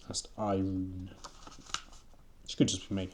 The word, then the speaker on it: Irun: she turned to the Iron Boy your name is iRun that's i r u n could just be pronounced iron but I'm going to say iRun she said she turned